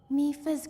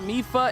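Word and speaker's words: Mipha: would like you to have it please accept mifa's grace wait her name is not mifa it's mifa i've been saying her name wrong all this time i was awash in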